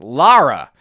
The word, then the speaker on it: Lara: It's not Laura. It's Lara.